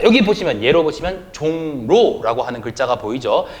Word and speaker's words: 종로: 자, 종로라고 하는 말은 이응이라고 하는 비음이 지금 리을과 부딪혔죠. 그러니까 리을이 니은으로 변해서 종로 이렇게 발음하는 것이 아니라 종로 이런 식으로 발음한다는 겁니다.